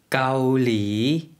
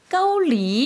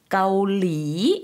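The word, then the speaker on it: เกาหลี: 많이 사용할 단어가 되겠죠 까올리 앞에는 평성 이구요 뒤에 4 성으로 내렸다가 올려주시면 되요 한국분들이 많이 발음 하실때 떠올리 이렇게 많이 바로 마시는 경우가 많은데요 앞에 평성 좀 신경써서 해주시구요 까올리 이렇게 발음 해주시면 되겠습니다 다음은 태국 태국 의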